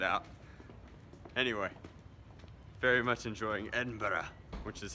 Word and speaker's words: Edinburgh: won't edit it out anyway very much enjoying Edinburgh which is how you pronounce it pronunciation is hard dudes all right